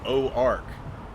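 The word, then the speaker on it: Auxarc: I thought, It's literally the same thing because Ozark, as it's spelled like O-Z-A-R-K, is how an English speaker would think you would spell the French O-Ark, because the X kind of takes the Z when you combine it with the vowel, so it's Ozark.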